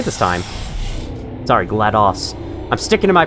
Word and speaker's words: GLaDOS: I know most people say GLaDOS, but I'm going with GLaDOS, because it's like, that's how you pronounce DOS. DOS. You don't say MS-DOS, do you?